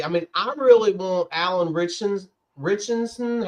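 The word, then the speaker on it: Alan Ritchson: You're talking about Alan Richson.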